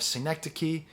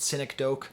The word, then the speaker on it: synecdoche: have the question of synecdoche which is spelled s-y-n-e-c-d-o-c-h-e you might have called it cynic doke that's what i called it up until my third year of grad school don't feel bad seneca